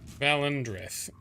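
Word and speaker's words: Valen Dreth: That's how you pronounce the name. Valendreth.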